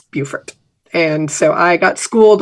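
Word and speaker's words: Beaufort: got schooled when I what I long thought was the pronunciation of bufort I thought it was bfort BAU f t I thought that was BT but no it's it's bufort and so I got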